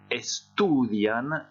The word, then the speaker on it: estudian: Los alumnos estudian la literatura.